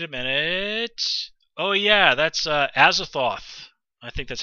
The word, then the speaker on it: Azathoth: Oh yeah, that's Azathoth.